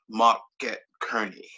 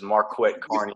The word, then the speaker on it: Marquette Carney: my boy right here the famous market kearney yeah uh he my name all up people but like he said i'm famous no you probably know how to pronounce it uh this is marquette carney they're speaking of the